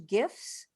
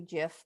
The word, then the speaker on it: GIF: because you can use gifs gifs i know it really is supposed to be jiff but some people say it wrong i told you i